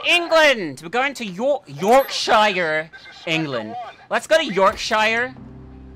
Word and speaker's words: Yorkshire: out of saying it correctly it's because it's pronounced Yorkshire wow we just dropped in in jorvik Castle